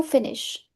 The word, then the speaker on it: finis: Finir means to finish. Je finis. I'm not pronouncing S. Last letter always remains silent en français.